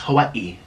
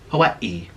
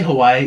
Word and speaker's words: Hawaii: states wrong I went to Hawaii and it's pronounced Hawaii Hawaii like if you say Hawaii you're very white you're very tourist you're very